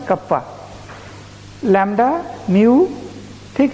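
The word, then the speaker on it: kappa: ठीक है, कटप्पा नहीं, कप्पा, लैम्डा, म्यू।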